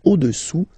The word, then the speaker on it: au-dessous: Le cube est au-dessous du cylindre. Okay? Au-dessous, final S not pronounced, du cylindre. Le cube est au-dessous du cylindre.